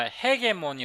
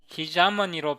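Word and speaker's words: hegemony: 그 다음에 이것은 우리가 핵의 뭐니 로 알고 있잖아요 패권 안 그런데 이게 발음이 헤게모니가 아니었어요 기체는 이 기자는 이 기재 문이 기자 무늬로 발음을 해요 미국 실명 에서는 이걸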